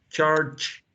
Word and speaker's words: charge: Remember to finish the word with the final sound, right? Like a T? Like the initial sound, like church, charge, Charge.